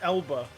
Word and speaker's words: Elba: that's another yeah no Idis Alba is a person no no no it's Elba not I thought it was